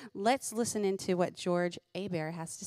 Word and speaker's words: Hebert: My name is Hebert. His name is Hebert. It's spelled the same. I'm from Texas. He's probably not. The only thing that you should never call us is Herbert, because there isn't an R there.